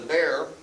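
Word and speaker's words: Bexar: in san antonio de bear that's that county now today is known as bear county b-e-x-a-r the x is silent and the troops were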